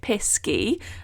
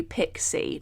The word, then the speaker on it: pisky: might have caught on I have been pronouncing it pesky and not necessarily pixie no pixie is the version you have probably heard and pixies belong in